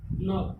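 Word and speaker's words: knock: यहाँ पे के बाद क्या आ गया, एन आ गया और एन के बाद एक वॉवेल्स आया वो, तो के क्या हो गया, साइलेंट हो गया। ठीक, नॉक, नॉक मीन्स क्या होगा, खटखटाना।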